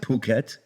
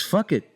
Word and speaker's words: Phuket: That's not how you say it. How do you say it? It's fuck it. No. How do you say it? Like, How do you say that? Phuket. It's not Phuket. It's fuck it. The PH is F. Okay.